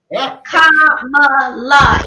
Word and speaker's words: Kamala: Kamala. It's 3 syllables.